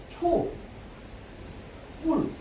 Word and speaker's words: 촛불: 얘는 발음이 두 가지라고 했습니다. 맞죠? 초 뿔 이렇게 발음해도 되고 그다음에 촛 이렇게 발음해 된단 말이야.